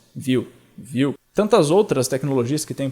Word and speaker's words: Vue: Por exemplo, se você pegar desenvolvimento web front-end, principalmente, você pode escolher React, Angular, Vue, como é que é a pronúncia? Vue.